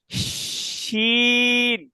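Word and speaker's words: شين: আচ্ছা সিন এর পরেরটা সেম সেম প্রসেস, শুধু বাতাসটা হবে একটু মোটা। দেখেন শিন। সিন আগেরটা ছিল কি, আগেরটা বাতাস ছিল চিকন, সিন। পরেরটা বাতাস সিন। হবে মোটা, শিন।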